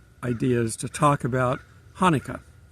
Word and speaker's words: Hanukkah: is to talk about Hanukkah or if you pronounce it properly it's actually a CH and it's one of those clear your throat words it's a 8-day festival